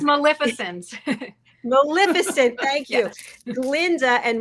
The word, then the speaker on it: Maleficent: It's Maleficent.